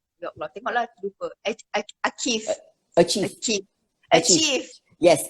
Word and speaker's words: Aqieve: So it's Achieve. achieve. Okay. Yes, to achieve something. So it's spelled AQIEVE. QI means chi, which is CHI, which is Yeah.